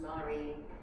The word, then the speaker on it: Mari: But once I had the names, sort of constellation of names, Mari came last, when she spelled Marie, I pronounce it Mari after someone in my studio, not naming no names, of course.